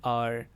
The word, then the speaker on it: hour: अब एच जो है वो वॉल साउंड नहीं है, वो वॉवल वर्ड नहीं है, ठीक है, लेकिन फिर भी हम उसको वॉल क्यों कंसिडर करते हैं? क्योंकि एच जो है वो साइलेंट है।